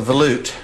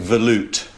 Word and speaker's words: volute: Then we've got the volute coming off there and we can start setting everything up.